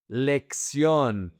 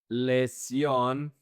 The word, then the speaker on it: lección: "Lección". Same thing. It sounds like a K. Some people mispronounce this word and they actually say "lesión", which is a different word.